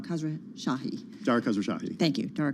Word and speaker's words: Khosrowshahi: Khosrowshahi.